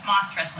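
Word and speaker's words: mas-wrestling: The mass wrestling, Moss wrestling. moss, like moss on a tree, but it's not spelled like that. It's spelled like mass.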